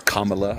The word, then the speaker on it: Kamala: No, I always just said Kamala, but it's Kamala.